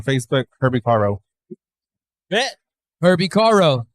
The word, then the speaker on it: Caro: it's like Herbie Carr without with the no.